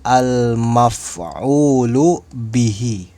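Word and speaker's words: مفعول به: Maka almaf'ul bih dibacanya almaf'ulu bihi.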